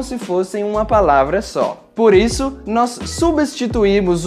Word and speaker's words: por isso: Por exemplo, nas expressões por isso, por exemplo, por acaso, nós vamos pronunciar por isso, por exemplo e por acaso.